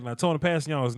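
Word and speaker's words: Kpassagnon: Yeah, I just looked up the pronunciation for this Passigno.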